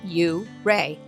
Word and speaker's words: Ouray: Just up the road is Ouray, pronounced U-Ray, known as the Switzerland of America, surrounded by jagged peaks and waterfalls.